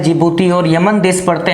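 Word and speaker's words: Djibouti: तो दोस्तों जिबूती, डी से बनेगा, डी साइलेंट रहेगा, एरिट्रिया, सोमालिया और इथोपिया आपको बताया, कभी भी क्वेश्चन आ सकता है।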